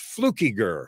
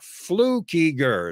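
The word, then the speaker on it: Flückiger: calling that but anyway the last name is pronounced flukey gur flew keyger it's weird it's swiss and i love it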